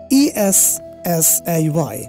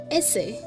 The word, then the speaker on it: essay: And this word is really common, and we wrongly pronounce this one. E-S-S-A-Y. How do you pronounce this? Essay. Jemon amra boli essay likhe ano na keno, something like that, right? Yes, sir. But the pronunciation which is correct will be? Essay.